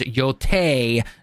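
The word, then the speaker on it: Yōtei: Yol coming 2025 and yes it is Yol none of your other pronunciations or anything oh shut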